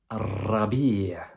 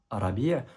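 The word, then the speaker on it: ربيع: Le printemps, en arabe, on dit rabi'. Tu verras qu'il y a la shadda qui est juste au-dessus de la lettre ra, qui fait que on met l'accent sur le ra. On ne dit pas arabi', mais on dit arabi'.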